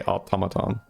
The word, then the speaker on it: automaton: So, you do say automaton.